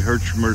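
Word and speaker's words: Herchmer: pick with Tony is spelled Pi K wi t o NE I hermer subdivision of the Hudson Bay Railway hermer spelled h e r c h m e r hey doggy he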